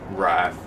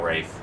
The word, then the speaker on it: Wraith: Wrath. No, Wraith. Wraith. It is Wraith.